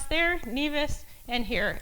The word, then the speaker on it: Nevis: They pronounce there NEAS and here it's Nevice.